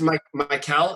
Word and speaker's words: Michael: It's pronounced Michael.